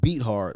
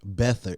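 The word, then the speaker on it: Beathard: out when you got beat hard i meant bether it's spelt like beat hard people come on he's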